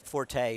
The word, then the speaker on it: Forte: I thought that Forte, or Fort, however you want to pronounce it, you can pronounce it either way, I think.